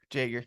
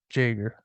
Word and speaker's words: Jaeger: like it's just normal all my family just wanted the J to be pronounced so they sounded more American when they came over